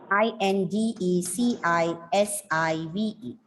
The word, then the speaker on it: indecisive: or the third syllable here the stress is on the third syllable indecisive indecisive means and unsettled